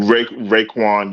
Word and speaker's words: Raekwon: Is it Raekwon? Did I say it right? Raekwon, yeah.